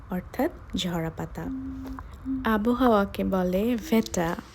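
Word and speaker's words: Wetter: ঝরা পাতা আবহাওয়াকে বলে ভেটা ভেটা এর উচ্চারণটা ভি কারণ হচ্ছে ডব্লিউ কে জার্মানরা ভি এর মত উচ্চারণ করে এর আগের আর্টিকেল হবে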